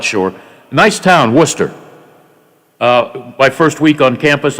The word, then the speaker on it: Worcester: So I remember getting off the bus in Worcester.